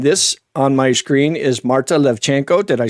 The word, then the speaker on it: Marta Levchenko: And this on my screen is Marta Levchenko. Did I say it right? Yeah. Okay, Marta Levchenko with City of Goodness or Misto Dobra.